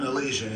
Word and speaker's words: Elysian: Is it Elysian? Elysian, yes.